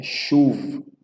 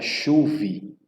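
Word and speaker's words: שוב: E observe a sequência de como pronunciar, né? Chuv, que significa novamente. Primeiro você vai pronunciar a letra, né? E depois a vogal associada a ela. E vai para a próxima letra.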